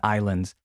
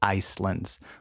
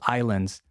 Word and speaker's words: islands: Philippines consists of 7,641 islands in Southeast Asia. Remember, the S in islands is silent, okay? We don't say Icelands. We only say Iceland for the country. Across those islands, deforestation has been a primary environmental issue.